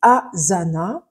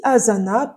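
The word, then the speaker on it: Asana: a aussi j dans l'ppellation française he l'outil Azana ça s'écrit comme vous l'entendez a S a n a l'outil Azana permetmet d'abord de créer les projets c'estàdire votre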